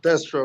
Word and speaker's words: Destro: You pronounce it Destro, right?